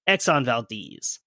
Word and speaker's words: Exxon Valdez: But yes, I know that it is pronounced Exxon Valdez.